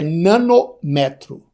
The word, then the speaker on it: nanômetro: O resto é tudo mantendo a sílaba tônica. Então, só para fixar, é nanômetro, tá?